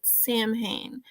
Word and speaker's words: Samhain: originated with the ancient Celtic Festival of sawen or as some people pronounce zit Samhain when people would light